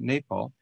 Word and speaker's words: Nepal: i should say nepal i've been calling it nepal all these years but i'm told it's pronounced napal nepal uh institute for international cooperation and engagement